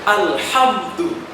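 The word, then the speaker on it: الحمد: Ada orang yang membacanya disamakan dengan huruf ha. Alhamdulillah. Itu kurang benar. Karena berbeda antara ha dengan ha. Ha atau biasa kita sebut dengan ha kecil keluar dari tenggorokan bagian tengah. Ha. Kalau ha biasa disebut dengan ha besar keluar dari dada. Ha. Maka yang benar bukan alham tapi alhamdu. Kemudian Rabbil A.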